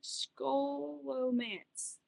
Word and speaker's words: Scholomance: Scholomance.